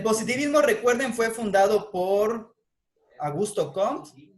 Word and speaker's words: Auguste Comte: El positivismo, recuerden, fue fundado por Augusto Comte, o Auguste Comte, o Augusto Comte, como le quieran pronunciar. De hecho, se escribe Auguste Comte. Pero como es francés, es Auguste Comte.